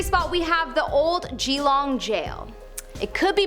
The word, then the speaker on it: Geelong: In our number 3 spot, we have the Old Geelong Gaol. It could be pronounced Geelong.